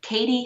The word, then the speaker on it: Cadey: She's had her first 2 sales, and her shop is called Katie Collections, and that's spelled Cadey.